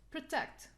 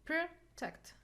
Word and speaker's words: protect: two syllable words okay protect as a general rule we will stress the second syllable if I don't know this the the general rule I would say I will see here like protect two syllables we have schwa sound we cannot stress weak syllables so we'll put the stress on the second syllabus okay what about below